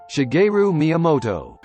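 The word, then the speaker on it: Shigeru Miyamoto: have been awesome so the creator of Mario mimoto I don't know how to say his name hey Bob how do you say his name shagu mamoto heard about this and liked it so it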